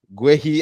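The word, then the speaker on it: Guéhi: this is not true GUI as the Africans pronounce him or gay as the English pronouncing guys I hope this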